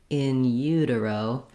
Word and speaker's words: in utero: Another strategy I suggest for anything that has something other than first syllable stress is to start on that stressed syllable. That would sound like utero, in utero.